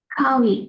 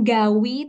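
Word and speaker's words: 가위: Kawi. Kawi. Kawi. Kawi. Oke, good. Ada yang tahu ya Kawi Bapak Ibu? Oke, I. nah di sini benar ngomong gawinya bukan gawi tapi kawi.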